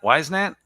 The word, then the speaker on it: Whisenant: How's it pronounced? Whisenant? Whisenant?